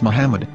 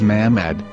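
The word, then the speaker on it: מחמד: yehuda's hebrew english dictionary it is correctly pronounced as muhammad not mahmad so how we're going to know for sure if it's pronounced as muhammad the muslim prophet or as mahmad a random hebrew word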